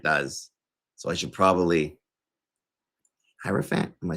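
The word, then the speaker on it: Hierophant: So, I should probably hierofant.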